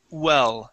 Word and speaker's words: well: Make sure to start well off with an oo sound. Doing their job well.